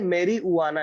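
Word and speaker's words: marijuana: पढ़ लेंगे इसको लेकिन यह मेरी हुआ ना है मेरी हुआ नजर साइलेंट पर तो मेरी हुआ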